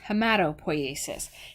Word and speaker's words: hematopoiesis: Or you might hear it pronounced hematopoiesis, and that's the process of forming all blood cells, so it comes from your bone marrow.